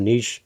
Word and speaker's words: niche: are going to say what is a niche it's a niche okay just just to clarify for everyone Niche is spelled ni c h e and Niche is spelled n TCH just so you know